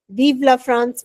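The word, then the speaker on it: Vive la France: वीला फ्रांस इसका मतलब long लिव फ्रांस right weave love फ्रांस right वीवला फ्रांस मतलब long लिव फ्रांस हम कहते हैं ना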